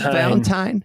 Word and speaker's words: Valentine: It's Valentine. I'm fairly certain that is the correct pronunciation.